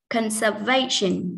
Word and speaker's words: conservation: Conservation trọng âm rơi vào âm thứ ba, nó là v.